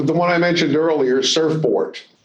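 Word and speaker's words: Surfbort: Uh, the one I mentioned earlier, Surfport, and if you think I'm mispronouncing that, it's S U RF B O R T.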